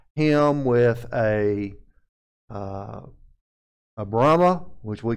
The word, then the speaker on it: Brahma: brahma which we call brahma but that's really not how he's it if you get down deep down in the south they call him a brimmer and that's really far away from the prince pronunciation but the brahma bull